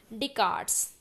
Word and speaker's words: Descartes: The statement "I think, therefore I am" is by Descartes. C is right answer. Here S is silent.